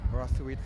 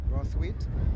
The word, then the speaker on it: Brathwaite: So accustomed of commentating in cricket with Brathwaite from Barbados. They pronounce their name as Brathwaite, but in Trinidad we say Brathwaite.